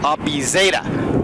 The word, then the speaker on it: Abizada: It's Abizada. Abizada. As in Band-Aid.